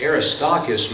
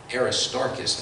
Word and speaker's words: Aristarchus: 4 10 paul writes aristocas my fellow aristarchus i think i should pronounce it my fellow prisoner greets